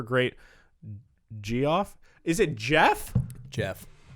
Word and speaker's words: Geoff: Jeff. It's pronounced Jeff. Geoff is Jeff, yes.